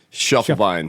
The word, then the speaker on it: Schiefelbein: not cool how do you how do you pronounce your last name Shuffle Bine Shuffle Bine yeah I couldn't you give me